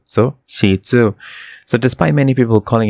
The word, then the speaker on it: Shih Tzu: loon in mandaran and is pronounced as sheet plus Zoo so shetu so despite many people calling it shidu and even t-shirts and